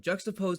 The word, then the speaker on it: Juxtapo: Juxtapo's the way you say it, bro. That's Okay. how it's spelled. Juxtapo. Juxtapo. Yeah, like juxtapose.